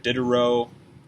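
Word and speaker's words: Diderot: change in france if did a row i believe is how you say that name um i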